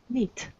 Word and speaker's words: knit: Knit. K is not pronounced.